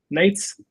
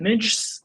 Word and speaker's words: Nejc: hard to pronounce here so when I told the people that I'm NES they're like nines they they cannot pronounce it at all and because I want